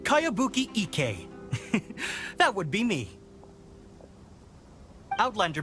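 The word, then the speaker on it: Kayabuki Ikkei: one i've never heard of it hmm by cowabunga icky mia this is a really strange name who's this cowabunga it's pronounced kayabuki ek that would be me outlander brigade is a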